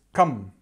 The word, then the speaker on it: come: C or k but it's actually uh it's like the uh sound so I always use an arrow to show it so it's up and it's come come come here uh